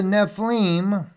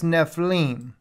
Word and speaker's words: Nephilim: FEI yod lamid that's Nephilim all right the little yard right there is what gives it that e sound in there Nephilim